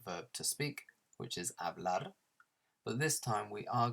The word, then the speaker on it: hablar: To speak is hablar, hablar. Notice that we don't pronounce the H. So the H in Spanish, you never pronounce it. It's just silent.